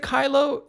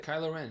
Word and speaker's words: Kylo Ren: I didn't see it is it Kyle Oh am I saying it right kylo Ren yeah kyla ok so his they